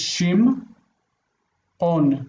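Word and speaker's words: שמעון: The iron is heard in the ah, but you don't have to pronounce it.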